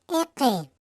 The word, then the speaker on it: iki: Se escribe iki, se pronuncia eke.